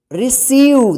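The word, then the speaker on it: receive: Second number rules सी का, कि सी के बाद ई, या आई या वाई, इनमें से कोई भी अक्षर जो है ना सी के बाद लिखा रहेगा तो सी का जो है ना स उच्चारण आप कीजिएगा।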